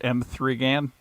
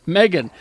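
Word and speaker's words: M3GAN: it's not pronounced M3 Gan. M3 Gan. Megan.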